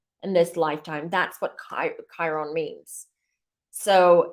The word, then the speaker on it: Chiron: in in in Kyo Chiron is spelled with a CH sorry that's why I got confused so it spelled the CH not the K so Chiron is called